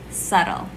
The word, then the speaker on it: subtle: Subtle. Silent B, subtle.